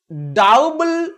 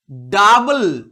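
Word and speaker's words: double: কিন্তু এর অনেক ব্যতিক্রম আছে। যেমন সি ও ইউ পি এল ই অথবা ডাবল, ডি ও ইউ বি এল ই, O Yuta কাউপল, ডাউবল নয়, এগুলোর উচ্চারণ আবার শুধু আয়ের মতো, ডাবল, কাপল।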